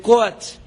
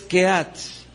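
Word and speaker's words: קהת: de un personaje que se le conoce al español con el nombre de coats y precisamente lo leímos en esta operación y cuya pronunciación en el hebreo es keats y me serviré de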